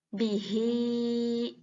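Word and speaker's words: بِهِۦ: Nah, ini ada kasroh berdiri, bihi, ya harus dibaca panjang.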